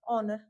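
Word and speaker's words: honour: Same same इसी में एच हमारा साइलेंट रहेगा और यह हो जाएगा हमारा ऑनर। This is एन ऑनर टू be here.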